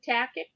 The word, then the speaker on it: Tackett: Tactic. Am I saying it right? Yep, Tackett.